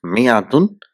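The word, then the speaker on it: مائة: Arabic is written as mayad or I mean if you see here in the first one where there's alif after the mean it is only written but it's not pronounced which is the most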